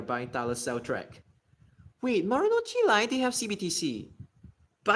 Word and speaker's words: Marunouchi: Marunouchi line. I gotta pronounce that properly since I'm from Japan.